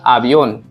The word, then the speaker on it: avión: V sounds like B. So A, avión.